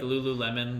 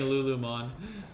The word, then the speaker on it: Lululemon: That's how Ben pronounced it for the longest time until Maria pointed it out to him, because he just kept saying Lulumon, because I guess he was reading it wrong or something.